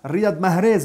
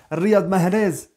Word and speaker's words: Riyad Mahrez: Riyad Mahrez. Eh oui, je la prononce à l'algérienne, les gars. Riyad Mahrez.